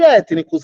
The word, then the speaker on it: étnicos: E étnicos, a palavra do meio é mais difícil. Como é que eu digo? Étnicos. Étnicos. 3. Então, aqui são 3, antepenúltima acentuada.